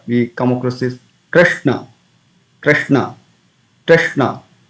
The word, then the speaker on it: Krishna: So when you pronounce Hare Krishna Mahamantra, we come across this Krishna, Krishna, Krishna. So Kri, Kri, soft. We don't say Kri. It's not Krishna. It is Krishna, Krishna.